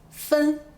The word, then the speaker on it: 分: 首先呢，分这个字是个多音字，我们先来看第一个读音分。